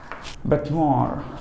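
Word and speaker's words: bête noire: बेटनोर, देखिए ध्यान दीजिए, बेटनोर, द प्रोनाउंसिएशन इज नोर. आपको फोनेटिक्स के हिसाब से समझा रहा हूँ, राइट.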